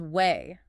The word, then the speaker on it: weigh: It is spelled we e i g h. The g and the h at the end are completely silent. It sounds exactly like the word weigh.